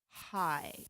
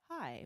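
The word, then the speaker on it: hae: We always also like to have our flag, and so the flag in Hawaiian is called hai. Can you say hi? Like hi, but it's spelled H-A-E.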